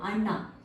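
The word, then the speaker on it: ಅಣ್ಣ: teeth so for example for this one I give the word Anna Anna in Kaa means brother Anna so where your tongue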